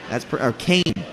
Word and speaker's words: Keene: Kane. See, it says pronounced Kane after I read it.